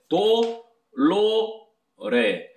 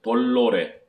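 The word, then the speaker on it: dolore: 돌로레. 쳬르또 돌로레 이렇게 발음하면 틀린 발음이에요. 이 잘못된 발음이에요. 그러면 L이 두 개가 들어간 거예요. 그러니까 도 따로 도로레 도로레 도에다가 리을이 받침으로 들어가는 식으로 발음이 되면 안 됩니다.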